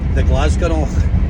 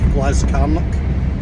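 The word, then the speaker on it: Glascarnoch: that holds Pike H lock glass carock or the glasgo as some people pronounce it the glasgon my mate fudy calls it the glasgo but it's actually the glass Lo glass carock it's pretty awesome Bleak remote place it's like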